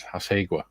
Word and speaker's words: Hasegawa: I actually don't know if it's pronounced Hasegawa. I don't know. Famously not Japanese. White Rose did ask them. I think he asked them or he found out somehow, and it's Hasegwa.